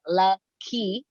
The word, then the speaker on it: Lakeyah: It say key in it, so it should just be Lakeyah.